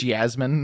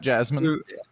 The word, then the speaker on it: Jasmin: Eastern European spy called Jasmin who is working for a man that looks like both Fidel Castro and Che Guevara mixed into one. Correct. It's Jasmin, not Jasmine.